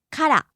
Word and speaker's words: から: パーティー Next we have から from. からから Starts high and drops low.